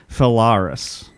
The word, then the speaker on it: Phalaris: We didn't really come to an agreement on how to pronounce that guy's name. I say Phalaris.